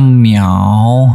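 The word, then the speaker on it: 秒: Contohnya langsung kalau kita kasih shao, ini adalah di kanan adalah shao bacanya. Jadinya miao ya.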